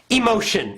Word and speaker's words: emotion: panic panic all right good next one Peak emotion it's a phrase Peak emotion okay Peak emotion let me give you the pronunciation the last part heart is shun shun